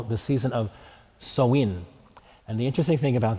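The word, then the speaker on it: Samhain: call the season of soin and the interesting thing about the Irish language is you pronounce it nothing like it looks or how you would think it might be pronounced and so I told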